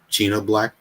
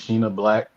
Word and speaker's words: Sheena Black: Shout out to Wavy the God, and let me know if I'm pronouncing her name correctly. Is it China Black? Yeah, I believe it's Sheena Black.